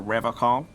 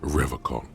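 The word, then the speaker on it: Revachol: But someone has to stay strong for Revocol. Okay. He pronounces Revocol with a hard K, unlike other people.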